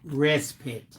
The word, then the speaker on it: respite: Okay, Brian Dickinson, it's pronounced respite. Respite care. Bill, pronounce it right, Bill.